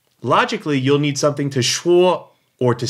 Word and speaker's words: 说: Logically, you'll need something to shuo or to say or to speak. To shuo, S-H-U-O in the first tone.